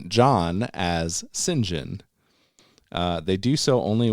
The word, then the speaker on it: St John: as would be expected it is one of a number of customary pronunciations in British names there is no Rhyme